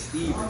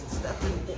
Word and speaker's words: Stephen: Now, and the Steph part, my name is Steven, but it's spelled Stephen, and everybody always Stephen.